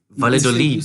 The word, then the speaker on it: Valladolid: You Valladolid. say it like a Y, the double L.